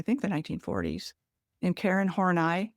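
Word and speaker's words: Horney: It was posited by a German psychoanalyst from I think the 1940s named Karen Hornai. H O R N E Y. You pronounce it the way you want.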